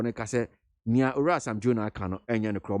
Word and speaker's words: Sam Jonah: boje esema Sam Jonah is it Sam Jonah or Sam Yuna? How do you pronounce the name? Sam Jonah. Me kind of Jonah. Yeah, Sam Jonah.